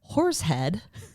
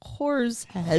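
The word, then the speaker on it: Horseheads: labrook industrial park in horsee head horsee head in 2015 it's not horse it's h o r s horse head horse head horse and if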